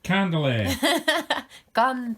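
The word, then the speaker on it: kantele: it's spelt like k-a-n-t-e-l-e you can try to say that also candela it's almost like candle yeah candlelit and it's a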